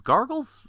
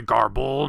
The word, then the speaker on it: Garble: for quick villain redemptions gargles still sounds like a stretch well it's actually garble not gargle but I can see